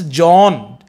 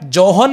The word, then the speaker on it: John: हेल्डन बोलते हैं, पर J means जॉन, S silent होता है, जोहन नहीं बोलते हैं. The pronunciation of John, this word is John, ना कि जोहन. H का साइलेंट होता है इसमें साउंड, तो जॉन बोलेंगे.